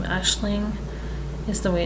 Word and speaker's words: Aisling: The only thing I have with the name Aisling is the way it's spelled. I might spell it differently. I might spell it more the Americanized way and pronunciation way, because the AIS, I wouldn't think Ash.